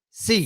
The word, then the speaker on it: Xi: we pronounce President C. C. He wrote, he said the she, because I used to say she, he said, think of it as letter C, C. in English language.